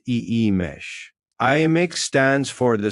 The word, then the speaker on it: Imix: The first or red harmony is represented by the gly calledx pronounced e mesh.